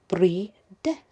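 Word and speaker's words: Brydeth: now the is called breedeth breedeth b r y d e t h he puts it's pronounced b-r-e-e-d-e-a-t-h free death you can connect to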